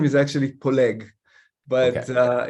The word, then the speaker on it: Poleg: last name is actually polig but uh in north america it's difficult to pronounce that so it's polling yes it's almost like